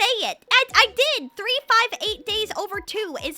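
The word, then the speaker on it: 358/2 Days: It's actually supposed to be pronounced 358 days over 2.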